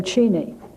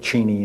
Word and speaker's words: Cheney: at the pentagon there is a story going around that before secretary cheney worked in the ford white house that he had pronounced his name cheney but when president ford called him cheney he said well if president if the president says that's my name it's cheney and it has been